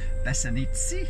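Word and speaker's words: Besednice: one of um klum and one of uh bessanitsi that's how you pronounce it it's been an eventful and magical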